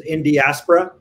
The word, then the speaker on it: Indiaspora: next in diaspora rajeev that's how we pronounce this is in diaspora and we hope we'll